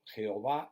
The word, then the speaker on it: Jehová: hebreo pero a bueno jehová es porque la jota en castellano antiguo se leía como y de ahí que cuando